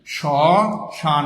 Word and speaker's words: শ্মশান: শ্মশান বানানের মধ্যে আমরা মফলা দিয়েছি কিন্তু উচ্চারণ করিনি। এই শ্মশানের উচ্চারণটা যদি আমরা লিখি তাহলে লিখতে হবে এইভাবে সশান ম ফলা উচ্চারণ করিনি